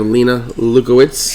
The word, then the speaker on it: Lena Luitz: podcast tonight we have Lena luitz did I say it correctly yes you did I love that name